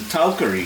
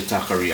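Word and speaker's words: talkari: And talcary, some people say takari. I just grew up in a village where the word was always pronounced talcary.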